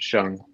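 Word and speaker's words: Shang-Chi: where he runs into Shang Chi or I always call him Shang Chi too now with the movie I always trying to pronounce it shun like they're telling us to um as far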